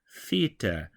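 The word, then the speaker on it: θήτα: that exact same pronunciation theta is an interesting one because this is a letter we don't have in the Latin alphabet we make the sound in English all the time with a word like the or this but it's similar to Delta in that it's that th sound however it's a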